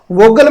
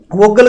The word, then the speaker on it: Vogel: वोगल का वोग मेथड भी कहते हैं भाई इसको। इंग्लिश की जो बुकें हैं उनमें वोग मेथड ही है ये, तो वो एल साइलेंट रहता है इसमें।